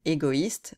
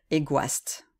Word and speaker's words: égoïste: d'habitude se prononce ouah si on n'avait pas le trait main sur égoïste on devrait dire egoist même chose pour android